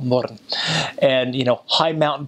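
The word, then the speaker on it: Mörön: You go in the north, they've got a place called Little Switzerland, called Murren, which is spelled moron, but call it Murren.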